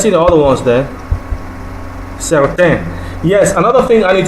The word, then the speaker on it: certain: Now, certain, which means certain or some, is pronounced as certain. Okay, but that N is not pronounced certain. Not certain, not certain, like you have in English, but the words look alike.